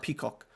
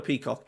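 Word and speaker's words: Pefok: I'm sure it's Jordan like Peacock. It's Jordan Peacock.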